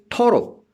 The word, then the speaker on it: thorough: And then I say thorough, T-H-O-R-O-U-G-H. In thorough, again, G-H is silent.